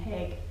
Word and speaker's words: Hauge: Hauge. Hauge. I was going to say it with an O.